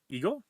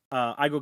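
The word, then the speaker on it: 英語: I'm sorry, ego. E is pronounced like the letter A. I. E A. E A. Oh, I'm sorry. I'm sorry. Aigo ga hanasemasu ka?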